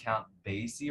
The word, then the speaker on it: Basie: The member of the world famous Count Basie Orchestra. Did I pronounce that right?